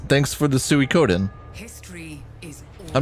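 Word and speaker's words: Suikoden: know about that Leo I'm pretty sure it's suicodin oh either way I'm gonna say it that way I don't give a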